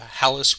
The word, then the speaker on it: Halys: And he will even be generously giving him all the territory west of the Hyle River, or the Halys River, I guess is the proper pronunciation, the Halys River, which